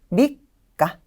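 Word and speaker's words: 三日: 밑가, 밑가. 여기에서는 밑이라는 초금으로 발음이 되고 있고요.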